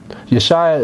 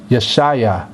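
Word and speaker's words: ישעיה: Well did Yeshaya, Yeshaya is a Hebrew word for Isaiah. Okay? Yeshaya, that's how you say Isaiah's name.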